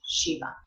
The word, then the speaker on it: Shiva: But in Sanskrit, you would always pronounce that final A, Shiva.